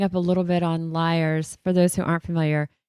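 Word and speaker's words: Lyre's: And backing up a little bit on liars, for those who aren't familiar, it's spelled Lyre apostrophe S. I actually thought it was Mhm. Lears until I've had conversations out loud with you guys.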